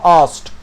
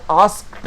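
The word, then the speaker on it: asked: আস্ট। উচ্চারণ কি হবে? আস্কড নয়, কের উচ্চারণটা কিন্তু কেটা সাইলেন্ট থাকবে, আস্ট, আস্ট, এর উচ্চারণটা হবে আস্ট।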